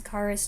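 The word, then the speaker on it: Kharis: change by the way in the previous movie most of the time the emphasis was on the second syllable but now most of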